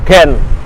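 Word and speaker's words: Gent: Nah, kalau bahasa Prancis itu bacanya Gong, tapi kalau bahasa Belanda bacanya Ken.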